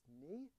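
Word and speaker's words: mu: class who told me the correct pronunciation of this letter is me can anybody okay I'll go with it I've been saying it wrong my entire life but yeah I don't think I'm pronouncing it correctly but it was definitely more like me than like new which is what I would say so depending on your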